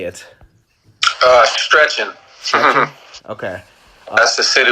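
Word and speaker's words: Szczecin: I can't pronounce your team name. How do you say it? Stretching.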